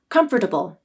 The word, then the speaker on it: comfortable: as three syllables and comfortable as four syllables the more common pronunciation is comfortable as three syllables so that is the